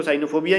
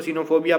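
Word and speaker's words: cynophobia: करेंगे, क्योंकि साइकिल में जब सीवाई को साइकिल पढ़ेंगे, ठीक है, तो हम इसको सीवाई को यहाँ पे साई क्या ही नहीं पढ़ेंगे, हम इसको साइनोफोबिया ही पढ़ेंगे, ठीक है।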